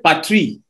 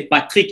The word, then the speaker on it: Patrick: En d'autres termes, si tu m'appelles Patri, c'est pas mon nom. Mon nom, c'est Patrick. Il faut que le C et le K soient prononcés.